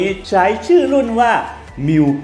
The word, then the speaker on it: Mu: ตรง นี้ นะ ครับ ตัว นี้ อ่าน ว่า บิล นะ Mu มิ้ว นะ มิ้ว 9 นั่น เอง โดย ไม่